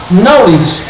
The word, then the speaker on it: knowledge: Knowledge. Conhecimento. Pronúncia é uma coisa. Escrita. Está lá o capa que não se pronuncia.